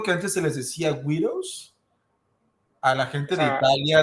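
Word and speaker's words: Guido: antes se les decía widows a la gente de Italia de cierto como nivel sociocultural y socioeconómico que llega a Estados Unidos. Widows, así como... Widow. Se escribe G-U-I-D-O, widow.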